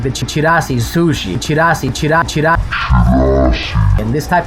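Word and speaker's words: chirashi: There is also different types of sushi, like for example the chirasis, that one. I can pronounce this correctly, let's go. There's also different types of sushi, like the chirasi sushi, chirasi.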